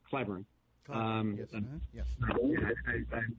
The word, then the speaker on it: Cleburne: i think i just it was clybourne not cleveland sorry cleburne um yeah i i